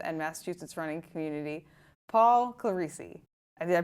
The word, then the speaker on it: Clerici: in the Falmouth and Massachusetts running community, Paul Clerici. Did I pronounce that correctly, Paul?